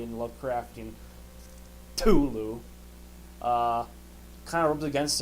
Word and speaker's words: Cthulhu: see tentacles and monstrosity of Cthulhu let me pronounce it correctly in love correcting Tulu uh kind of rubbed against him and does